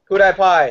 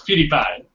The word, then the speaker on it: PewDiePie: Kudai Pai. Is that how you say his name? I think it's PewDiePie. I think it's PewDiePie, but that's just me. It's PewDiePie.